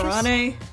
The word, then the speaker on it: Kurane: Kurane. We pronounce the A a bit more.